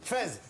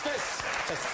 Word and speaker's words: Fès: Fès. Bonne réponse. Oula. Mais on prononce fesse. Fesse. Non, Fès. On dit fesse. On dit Fès.